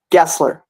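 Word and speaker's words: Gesler: by the way Gessler Gessler oh it's Gessler it is hard G like Jeffrey like the British spelling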